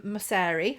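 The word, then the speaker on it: Mosseri: the same area um his name is adam masari i believe that's pronounced correctly i have done some research so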